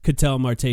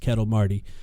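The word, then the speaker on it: Ketel Marte: Not to mention, of course, Catel Marte, whose name, by the way, is definitely not pronounced Kettle Marty.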